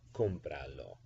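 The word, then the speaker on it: cómpralo: for example compralo compralo the accent before you attach the pronoun is going to be on the second to last syllable before you attach the pronoun so that's kumbaya what's the second to last syllable comb so when you attach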